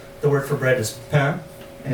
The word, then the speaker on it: pain: And the only thing you should know that in French, the word for bread is pain, and it's spelled P-A-I-N.